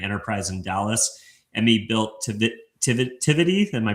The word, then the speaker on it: Tivity: Coupled with her personal roots in hospitality, her father owned a premier catering catering enterprise in Dallas, Emmy built Tivity, am I pronouncing that right?